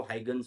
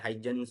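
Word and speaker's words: Huygens: ठीक है, कई जगह आप लोगों को हाइगन्स बोला जाता है, कई जगह हाइजन्स बोला जाता है। कई वैसे इसकी प्रोनाउंसिएशन कुछ ऐसे हॉगन्स कुछ ऐसे नाम से है, बट हाइगन्स बोल देना, कोई दिक्कत वाली बात नहीं है।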